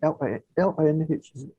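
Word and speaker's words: Linh: How do you pronounce that? Lin? Is it Lin? Sorry? Is it Lin? L-I-N-H. Is it pronounced as Lin? Oh, yes, it's Lin.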